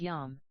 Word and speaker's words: yom: The problem is resolved by looking at the use of the word day in Hebrew, pronounced yom.